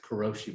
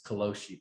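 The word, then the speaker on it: 過労死: overworking that they call I pronounce it kuroshi but I was corrected by a Japanese person who said it's koloshi because they pronounce their r's that way so but anyway yes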